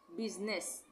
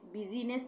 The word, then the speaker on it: business: इसको हम क्या BUSINESS क्या पढ़ते हैं, इसको हम बिजनेस, बिजनेस। तो यहाँ पे भी बिजीनेस नहीं पढ़ेंगे, बिजनेस, तो आई साइलेंट है।